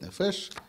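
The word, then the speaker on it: נפש: Пикуах нефеш, можно сказать нефеш, можно сказать нефеш. Это уже в зависимости от того, как будет стоять ударение.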